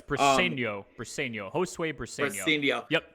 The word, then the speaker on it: Briceño: Yeah, it's Briceño.